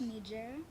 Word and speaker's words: Niger: have learned so far it's pronounced Niger Niger yes mhm hold your mic